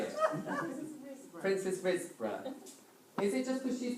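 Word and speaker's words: Princes Risborough: And which, oh, I tell you what, Princess Riseborough, you can choose the bow.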